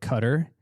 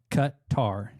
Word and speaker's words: Qatar: say it Qatar and some people say it cutter it's the first half of cutter in the second half of Qatar cut tar Qatar yeah yeah it's actually a mixture of